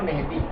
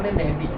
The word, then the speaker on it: مہدی: یا مہدی, امام مہدی. امام صحیح کا جو تلفظ ہے مہدی ہے. ہم لوگ ہندوستانی لب و لہجے میں مہدی کہتے ہیں جو غلط نہیں ہے.